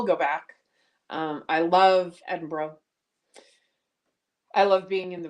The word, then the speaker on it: Edinburgh: pretty cool um Cassie says made me picture Edinburgh Scotland that's how it's pronounced in Scotland I was very firmly corrected